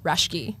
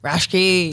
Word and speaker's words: Raschke: How do you say it? Raschke. Raschke. Very German, very Raschke.